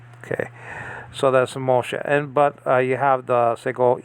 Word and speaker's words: Moshe: Now, after that, you have a Hey, but the Hey is silent. Okay, so the H can be silent. Okay, in a Hebrew word.